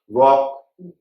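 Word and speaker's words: walk: वॉक, morning वॉक, evening वॉक हम करते हैं तो वॉक में भी डब्ल्यू एल के है, वॉक बोलते हैं, एल भी बोलते हैं।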